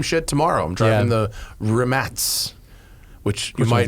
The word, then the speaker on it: Rimac: I'm driving the Rimats, which you Which might one's that? know as a Rimac, R-I-M-A-C. The electric one? Yeah, The super crazy it's one? pronounced Rimats actually, but Oh, really?